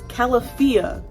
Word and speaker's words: Calafia: There's a pronunciation on how to pronounce. It's Calafia.